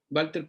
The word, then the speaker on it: Walter: llama Walter Benjamin no Walter porque acuérdense que la W en alemán se escribe se escribe la W pero se pronuncia como V no Walter no Walter